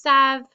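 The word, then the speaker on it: savent: e z n t remember we don't pronounce that e n t there it's just Sav so this e makes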